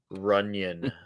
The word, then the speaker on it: Runyon: Jennifer Runyon. Runyon. Oh, yes. Rhymes with onion.